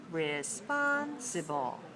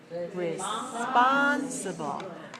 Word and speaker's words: responsible: form is watch me responsible responsible responsible has four syllables and it's dressed on the second so the stress pattern is different now let's say it